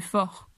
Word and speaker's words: fort: Grand no se pronuncia la D, gros no se pronuncia la S, fort no se pronuncia la T, costaud no se pronuncia la D.